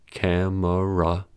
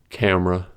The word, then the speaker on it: camera: Consider camera and family. In the dictionary, these words are noted as having 3 syllables, camera and family. But in everyday speech situations, these words are pronounced as 2-syllable words, camera, family.